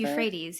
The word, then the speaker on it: Euphrates: near I always I don't know how to pronounce this. Is it the Euphrates River? Euphrates.